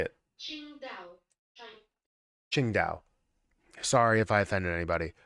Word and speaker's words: Qingdao: I don't know where the heck that is quindao China I can't say that quing Dao quindao